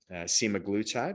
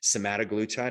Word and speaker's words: semaglutide: And some of the best peptides for this, once again, Semiglutide, which we'll talk about today, or Semaglutide, however you want to pronounce it, is fine with me.